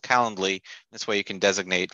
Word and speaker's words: Calendly: to my what's called Calendly. This way you can designate like an hour webinar in my calendar. I always say it wrong. I always want to put an R in there, Calendarly.